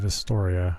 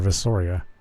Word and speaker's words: Visoria: Jun Post Alet and Vistoriia or Visoria. There's no T in there. Why am I pronouncing a T?